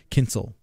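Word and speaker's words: Kyncl: his name what no it's not zus it's Kinsel I'm gonna say Okay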